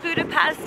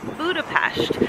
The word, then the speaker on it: Budapest: Not Budapest, as you might think it's pronounced, but it's pronounced Budapest.